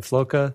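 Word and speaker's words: Floca: who else like like Brian Jordan pigmy Brian felucca that's how you say his name yeah but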